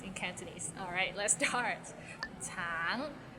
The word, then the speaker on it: 橙: 橙, it means orange, but some people might find it difficult because the end has a little ng, so it's a bit of nasal sound.